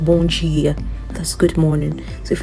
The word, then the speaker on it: bom dia: And the D, if you see a D followed by an I, you're going to get a J sound, okay? That's why we get bom dia.